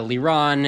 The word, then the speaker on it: Liron: It's a Hebrew name. So, basically, I've decided that the ideal way to pronounce my name would be to take the Hebrew emphasis on the second syllable, but otherwise sound like you're talking English.